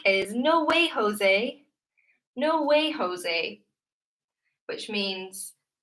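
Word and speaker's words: José: So for me, this would be pronounced Jose rather than Jose. You would say ha for this J. Maybe in Latin American Spanish you would say ja. I'm not sure though.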